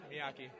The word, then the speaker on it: Miyake: Close, Miyake.